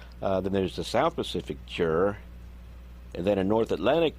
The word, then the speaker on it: gyre: That's the G-Y-R-E. It's pronounced Gyre. I looked that up.